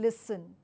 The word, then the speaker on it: listen: pronunciation so once again the right technique for this pronunciation is please and then listen once again listen please please has a z sound listen has a s sound okay so let's move